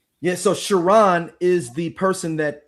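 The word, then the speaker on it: Charon: No, no, not Shiron. This was C H A R O N. Like almost like a woman. Chiron.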